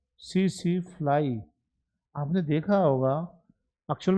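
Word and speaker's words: tsetse: वहां पर एक लोकल फ्लाई होती है जिसका नाम spread by सीसी फ्लाई T silent रहता है सीसी फ्लाई आपने देखा होगा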